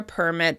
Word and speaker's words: permit: When you're talking about getting a permit that allows you to do something, you'll stress the first syllable: PERmit, PERmit. When someone gives you permission to do something, they permit it, with stress on the second syllable: perMIT, perMIT.